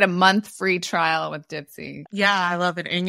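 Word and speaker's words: Dipsea: I always thought it was pronounced Dipsy-a, but I don't know. It's Dipsy.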